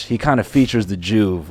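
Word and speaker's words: Joovv: me because they use a device called the Juve and I just where did they get that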